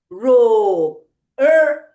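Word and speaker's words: rope: So here e is silent. e is silent. will jump one step back and tell its vowel friend to say it sound long. Ro P row.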